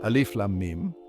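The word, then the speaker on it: الم: on quranic recitation example alif lamim LM is pronounced as three distinct letters creating a rhythmic pattern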